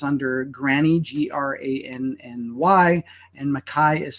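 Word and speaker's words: Mackay: under granny g-r-a-n-n-y and Makai is spelled m-a-c-k-a-y that's McKay for us non-scottish people uh and you can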